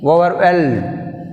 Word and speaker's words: overwhelm: Overwhelm. Which is silent? H is silent.